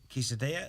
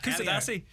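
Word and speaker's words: Kuşadası: It's in the resort of Quesadilla. Is that how it's pronounced? Or is that a food? That's Quesadilla is a food. Kusadasi.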